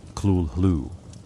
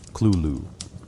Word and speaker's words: Cthulhu: Lovecraft specified that the name cannot be pronounced by human vocal organs. He offered approximations. Clulu, Clulu, Cthulhu, acknowledging that all are failures.